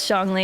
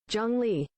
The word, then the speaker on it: Zhongli: It's more of an O sound. Let's see again. Zhongli.